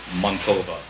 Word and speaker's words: Mantova: This is called Like His Beloved Mantova, which is actually the Italian pronunciation of the town.